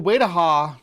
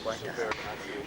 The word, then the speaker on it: Waitaha: Now, it's weird that they divide, because the Waidaha, that's how I used to pronounce it, I couldn't remember how they say it, but they are a Maori people, right?